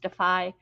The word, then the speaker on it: DAFI: Anne, did you get all the links I sent you for Defy, DAFI, pronounced Defy?